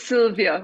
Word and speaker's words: Sylwia: Because it's it's Sylvia with a it's just written with a W.